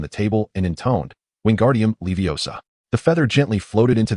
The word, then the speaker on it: Wingardium Leviosa: It should be Wingardium Leviosa," with the M sound elongated and clear.